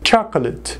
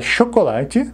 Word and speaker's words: chocolate: Chocolate, é chocolate, né? Cuidado com a pronúncia. Chocolate.